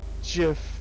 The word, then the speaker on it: GIF: smile too first lesson it's pronounced and gifs if a with a hard g careful i mean solid i'm with the mayor on this one gif is pronounced jiff all the way no no she's just